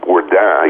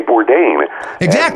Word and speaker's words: Bourdain: thrown me off well technically it's a French name and if I were if I were living in France people would call me or die yeah sure she would pronounce it but I mean you know my parents learned very early on that you know particularly if you're ordering takeout Chinese food in America you know you say Bourdain that's that look damn